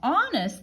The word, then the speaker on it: honest: is this and now honest the first sound I hear is ah ah but honest has a silent h here so h o okay